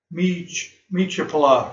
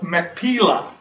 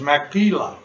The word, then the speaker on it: Machpelah: having trouble this morning, which is Mechiplah. I'm not pronouncing that correctly at all. I'll probably come to me. Which he hath, which is in the end Machpelah. That's what it is, Machpelah.